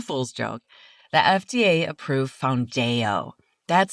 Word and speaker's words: Foundayo: not an April Fool's joke, the FDA approved foundo. That's spelled F O U N D A Y O. And the pronunciation straight from Eli Lily is found dayo.